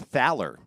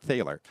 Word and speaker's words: Thaler: US Copyright Office, the guy said it's actually pronounced Thaler, not Thaler. So if you were pronouncing it Thaler, you're wrong, which I was wrong. It's Thaler.